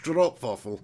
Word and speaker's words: stroopwafel: Neil Duffin says, haha, stroopwafel is pronounced stroopwafel.